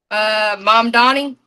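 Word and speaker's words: Mamdani: if there had any statements on how you pronounce that guy's name again. Mom Donnie.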